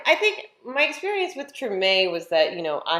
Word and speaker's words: Treme: this hbo series and i think it's it's uh pronounced treme yeah uh i had to